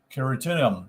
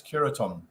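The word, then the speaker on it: Quiritium: law was to just keratinum Now spell that for you q-u-i-r-i-t-i-u-m that's keratinum by The curetons Who were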